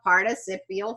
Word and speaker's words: participial: spell that out but once we put them in a phrase we call them a participial phrase you get that extra syllable which by the way